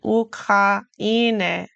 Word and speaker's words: Ukraine: Die Ukraine. Notice how in Ukraine, the syllables are pronounced differently than we would pronounce them in English.